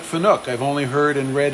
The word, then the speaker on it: Fanuc: No, I have to repeat it because if you're watching this as a video, Tuck says, isn't it pronounced Fanuc?